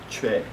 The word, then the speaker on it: Choi: For example, Americans cannot say the name Choi.